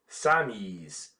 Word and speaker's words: Sammies: The French then followed the suggestion of one of the American correspondents and began to call the soldiers Sammies or as the French pronounce it Samis.